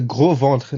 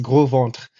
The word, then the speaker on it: Gros Ventre: The gros ventre. Now, this is just funny because, or the gros ventre, as probably the Americans would say it, but it's pronounced gros ventre, which literally means the fat belly people.